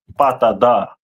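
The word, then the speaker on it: פטדה: And its representative stone would be topaz, which in Hebrew would be pronounced as patada.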